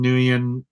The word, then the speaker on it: Nguyen: Jeff Lemire, Dustin Nguyen, that's how you say his name.